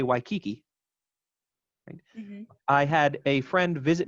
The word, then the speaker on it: Waikiki: indicated to me wow we have preserved some of the vowel qualities of waikiki because in english we say it kind of even stressed why key key right they would all act as their own foot unit now we have kanaka